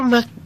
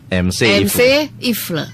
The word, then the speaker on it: Mc Ifle: Tadi saya pikir Mak gitu dibacanya. MC kan dibacanya gitu ya Pak William. Iya. Ternyata bacanya MC Ifle.